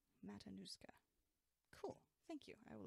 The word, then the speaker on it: Matanuska: all of it Lee is telling me it's pronounced Matanuska Matanuska cool thank you I will attempt to remember